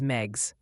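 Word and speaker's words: Meigs: Megs County, Tennessee is Megs.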